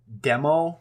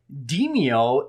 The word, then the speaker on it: Demeo: the only thing is the name is spelled d-e-m-e-o and I always want to call it demo this is just an extra e in there and it always throws me off for a second so demio is essentially best way